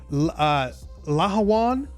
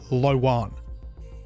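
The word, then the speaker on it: Lhowon: The Lawan I've been told to pronounce this uh Laan with that H actually pronounced. I've heard others just say Lwan.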